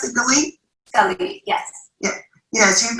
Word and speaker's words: Galit: Is that how you pronounce it, Galit?